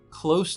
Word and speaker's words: close: This version of close is with an s sound. Close. Close. Compare that to close the door.